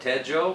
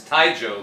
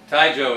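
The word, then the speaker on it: Taizhou: and this is in this is you're saying you just call it ted joe but it's it's taijo the way taijo is the way you pronounce it that's the authentic way to say it even even even sure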